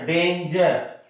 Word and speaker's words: danger: Next, danger. Here, ja.